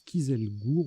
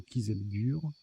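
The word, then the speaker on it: Kieselguhr: Alors ça se prononce Kieselgur ou Kieselgur. Ça s'écrit aussi avec un H avant le R.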